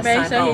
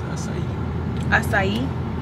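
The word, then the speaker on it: açaí: But I'm going to just give me a sahi bowl. I think that's how you say it. Asahi bowl. Yeah. I think it's acai. Acai bowl.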